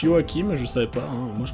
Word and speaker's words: Joaquin: lio hakim phoenix oui ça se prononce yoakim je serais pas où